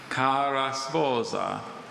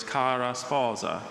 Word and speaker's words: cara sposa: Just so anyone doesn't wonder, Dr. Bailey wasn't exaggerating that pronunciation. That's what the dictionary says to do with that word. Others are more English sounding, but with that word in the dictionary, that's how you're supposed to say it.